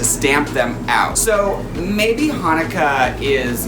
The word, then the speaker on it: Chanukah: the soft age like Hanukkah Hanukkah cool with Hanukkah however in Hebrew we say Chanukah oh I like to